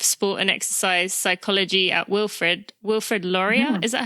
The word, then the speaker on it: Wilfrid Laurier: the professor of sport and exercise psychology at Wilfrid Laurier. Mm-hmm. Is that how you say it? Yeah. Wilfrid Laurier, you got it.